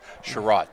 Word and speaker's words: Sherratt: And just to help you out with pronunciation, because I know the players, it's Sherratt, actually.